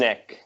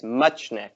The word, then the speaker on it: Muchnik: Muchnik. Everyone wants to insert an N in there. It's Muchnik.